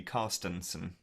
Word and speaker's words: Carstensen: So that was the fantastic Stian Carstensen there with yourself. Am I pronouncing that correctly? Carstensen.